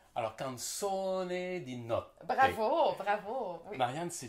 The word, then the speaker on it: Canzone di Notte: Je ne l'ai pas bien prononcé. Alors, hein? Canzone di Notte. Alors, Canzone di Notte.